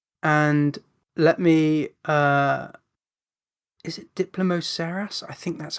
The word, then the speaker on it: Diplomoceras: Is it Diplomoceras? I think that's how it's pronounced. Let me make sure I'm pronouncing that right. Yeah, Diplomoceras, which is a type of ammonite.